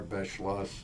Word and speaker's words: Beschloss: us yes my full name is Morris R Bas the last name is spelled b e s c h l o